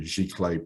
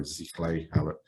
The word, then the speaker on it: giclée: At FineArt, we specialize in what we call the giclée printing method, or ziclée, some people like to pronounce it with kind of a Z sound instead of the G.